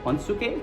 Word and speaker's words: honesuki: I've toured with so many Japanese bands in Japan, and yeah, so I'm gonna keep trying to say it properly, as you say, Honsuke, but if I say Honesuki and it really bothers you, then I'm sorry,